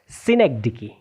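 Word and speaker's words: synecdoche: सिनेग डिकी।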